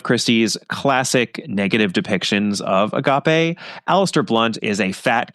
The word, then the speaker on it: agape: Aeros filia and Stor we've got something called Agape it's spelled AAP so it looks like aape but